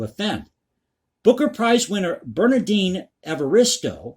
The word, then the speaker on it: Evaristo: Booker Prize winner Bernardine Evaristo, I believe I'm pronouncing that correctly, it's Evaristo, called such censoring ridiculous, while author and comedian Dawn French was appalled.